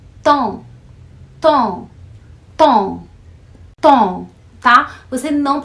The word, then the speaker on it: temps: a pronúncia da palavra tempo em francês é Tom tá você não pronuncio essa Ok mas eu tenho ouvido de mas as pessoas dizer tampa sabendo que esse dom é um som que